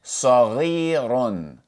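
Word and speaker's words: صغيرٌ: So, the raw with tanween dhamma would be pronounced run. Run. So, if we pronounce all of these letters together, we would say saghirun.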